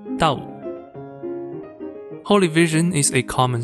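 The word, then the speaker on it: 兜: She then names her son after the visiting object, which in Cantonese pronounced Dao.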